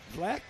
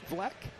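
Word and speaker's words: Vlcek: Haley, I'm going to say Vleck. And the C is silent, VLCEX, Vleck. But anyway, Haley doing a very nice job moving up.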